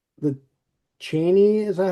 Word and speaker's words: Cheney: And number 9, the Cheney, is that how you pronounce it?